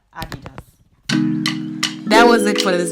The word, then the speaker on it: Adidas: So Adi Dassler, Adidas. So it's not Adidas, but Adidas.